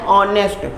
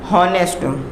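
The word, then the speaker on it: honest: तो ये वर्ड तो शुरू हो रहा है एच से, एच लेटर से स्टार्ट हो रहा है, लेकिन इसका प्रोनाउंसिएशन क्या? एन ऑनेस्ट। ऑनेस्ट, ना कि हॉनेस्ट। इसका जो प्रोनाउंसिएशन है वो है ऑनेस्ट, जो कि वॉवेल साउंड से है, इसलिए हमने क्या यूज किया है?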